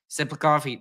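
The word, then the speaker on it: Tsyplakov: Siplikov, it starts with a T, but that's how you pronounce it.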